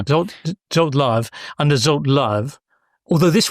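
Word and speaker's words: Zsolt Löw: wins from 2 under, do I pronounce this as Zolt Love? Yeah, that's fine. Yeah. Zolt Love, under Zolt Love.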